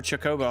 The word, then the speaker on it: chocobo: the chocobo right now how do y'all pronounce it chocobo or chocobo i used to call it chocobo or chocobo i mean and and people would always correct me saying it's chocobo i've heard people